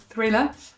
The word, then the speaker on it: thriller: Thriller, avec la petite TH avec la langue entre les dents, pas mal.